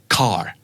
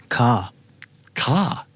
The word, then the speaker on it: car: Let's start with car รถครับ Car. Just like that. Yeah. Breezy, easy. Car. Like almost no R, right?